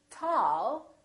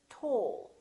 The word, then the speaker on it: tall: Americans say tall. British speakers say tall.